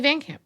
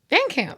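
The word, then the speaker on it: VanCamp: Emily Van Camp. Is that her name? Yeah. Yeah. Van Camp. Van Camp. I might have said Van Camp.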